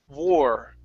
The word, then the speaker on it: war: of your teeth you want to curve your tongue upwards just a bit you don't want to swallow it saying W okay that's not the sound okay it's War okay just barely coming up